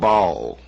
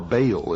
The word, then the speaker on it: Baal: the ancient worship of Bal or Baal as some pronounce it ba was the son